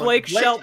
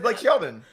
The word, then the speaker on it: Blake Shelton: no, I heard No, Blake Shelton. I said Blake Sheldon. I say Shelton with a T?